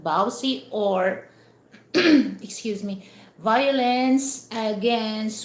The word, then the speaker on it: VAWC: It's a v a c uh v a wc we we uh pronounce that bowsy or excuse me violence against women and children.